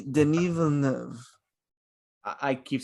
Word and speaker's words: Denis: I keep saying Dennis. Denis Villeneuve.